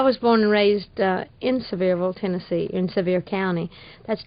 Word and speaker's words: Sevierville: but it's actually pronounced Sevierville and now as I was telling you a good way to remember it is to think of something very severe like Dolly Parton now